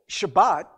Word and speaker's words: Shabbat: the sabbath it is symbolically but the sabbath shabbat as it is pronounced in hebrew actually means saturday there's no